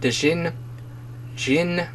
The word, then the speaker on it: Djinni: Djinni, if the D is silent.